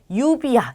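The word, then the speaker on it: lluvia: 그래서 발음하실 때 유비야 이렇게 발음이 돼요.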